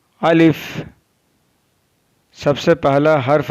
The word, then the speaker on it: ا: Alif is pronounced from the empty part of the mouth.